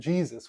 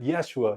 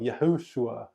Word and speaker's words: Yeshua: You can't put words to it, not even Jesus, which of course is a mispronunciation. But Yeshua, Yahushua, whatever Christ called himself in his day, we have good names for him.